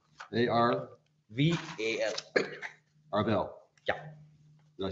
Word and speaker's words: Arval: Arval, last name is Arval. A-R-V-A-L. Arvel.